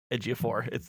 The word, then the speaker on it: Ejiofor: No, actually, it is Ejiofor.